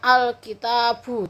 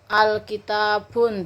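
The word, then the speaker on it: الكتاب: Jadi kalau sudah ada al, itu bacanya al-kitabu, tidak boleh al-kitabun, tidak boleh.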